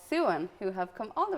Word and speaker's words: Suan: saying this earlier but it is Su and not Swan even though it's spelled s u a n but you're